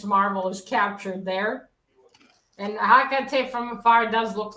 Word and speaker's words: Hecate: It's Hecate. And they pronounce I've heard they pronounce Hecate, whatever. There's no accent there on the E, so I don't know. Latins, unless there's an accent, we don't emphasize it, Quit making excuses, Roger.